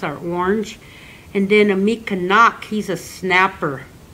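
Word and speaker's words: mikinaak: Mikanak. Mikanak is how you say his name in Anishinaabe.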